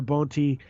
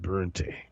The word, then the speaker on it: Boente: Now, it's spelled in a German way that would denote an umlaut. So I would normally pronounce it Boente. Boente. I'll say Boente anyway.